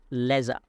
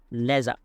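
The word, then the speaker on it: leisure: তাহলে ডোরিং হার লেজার, লেজার এটা সঠিক উচ্চারণ হবে লেজার, লেজার।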